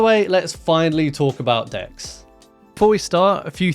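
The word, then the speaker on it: deque: the title I want to show you how decks work and if few cool little features with decks so decks um are short and yes they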